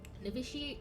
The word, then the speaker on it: noviciate: Nviciate probably is a word that I just don't know. It is a word and it's pronounced nviciate and it is the